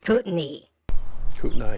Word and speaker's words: Kootenai: below if you know I think it's either Salish kotenai or Kootenai so uh you're both wrong it's pronounced Kootenay she will k-o-o she's a